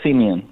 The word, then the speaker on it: Siemion: Andrew Siemion. Good morning. Good morning. Have I pronounced your name correctly? Yes, Siemion. Siemion. Right.